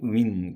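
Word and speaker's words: women: 사회 있어서 여성들이 그래서 여기서 여자는 한 사람일 때는 우먼이 발음이 복수일 때는 우민 되겠죠 우민 사이티 여성들은 종석 되어지는데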